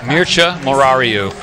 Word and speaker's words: Mircea Morariu: You know, Mircea Morariu just gave a high five. You know, everyone does struggle with his name a little bit. Mircea Morariu is what I understand the right way to say it.